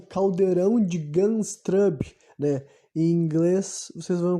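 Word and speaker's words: Gundestrup: Celta digamos assim um É o caldeirão de ganshrub né em inglês vocês vão encontrar mais coisas né Eu vou soletrar se escreve g u n d e s t r u p games trub e daí khaldromo de caldeirão vocês vão ver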